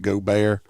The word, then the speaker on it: Gaubert: Uh it's pronounced Go Bear, but uh they're not from the area.